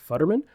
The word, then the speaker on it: Futterman: Today on the show, we have Futterman. Did I pronounce that correct?